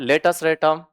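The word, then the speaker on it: latus rectum: Third point लेटस रेटम। Bracket में एल आर लेटस रेटम spelling है एल ए टी यू एस आर ई सी टी यू एम लेटस रेटम।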